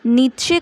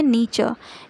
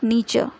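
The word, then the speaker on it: Nietzsche: हो सकता है, क्योंकि हमारी हिंदी बुक्स में नीत्शे करके दिया है, लेकिन इनका करेक्ट प्रोनाउंसिएशन है नीचे, यानी फ्रेडरिक नीचे।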